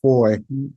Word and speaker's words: Fahie: They can also find me on LinkedIn, Facebook, Instagram, just my name, pronounced Foy, and you did awesome. Thank you. It looks like Fahie, but it's pronounced Foy, from St.